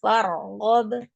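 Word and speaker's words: فارغب: wa ila rabbika farghab Iya, jangan fare, tapi far. wa ila rabbika farghab Iya, fargob.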